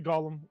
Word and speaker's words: Golem: It's Golem.